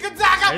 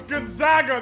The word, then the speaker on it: Gonzaga: It's Gonzaga, not Gonzaga. How are people still mispronouncing it?